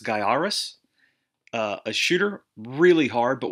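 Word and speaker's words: Gaiares: up and i think game sack showed this is pronounced guy Aris a shooter really hard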